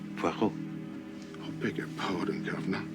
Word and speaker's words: Poirot: No. Poirot. It is pronounced Poirot.